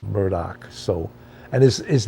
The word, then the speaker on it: Murdaugh: spelled m-u-y-d-a-u-g-h which you would think would be pronounce Murda but it's pronounced Murdoch so and his his name is spelled a-l-e-x